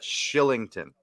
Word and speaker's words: Kylington: Oliver Shillington's name is spelled Kylington. How in the world is that Shillington?